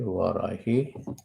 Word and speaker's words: Varahi: Om Varahi. You have to separate the syllables. Va, Ra, Hi.